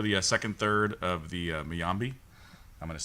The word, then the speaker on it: Mayimbe: It's Mayimbe.